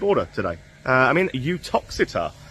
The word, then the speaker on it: Uttoxeter: today uh I mean utox uh that is how you say it by the way con a popular belief with a you feel UT toxit is the way it says lovely lovely